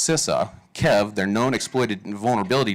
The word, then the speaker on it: CISA: I went through and I went to the cisa or excuse me I found out yesterday it's pronounced sisa Kev their known exploited vulnerability database uh it's